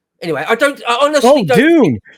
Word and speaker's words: Dune: I don't I honestly Dune Dune I'm so sorry okay all right the English pronounce yeah I just yeah I was like because it sounded like you were saying the month of June and I was like